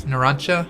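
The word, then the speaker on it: Narancia: Yeah, it's like Narancha. That's why I have trouble pronouncing it. It's Narancha. Like, CJA at the end.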